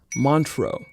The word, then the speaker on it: Montreux: It is pronounced Montreux.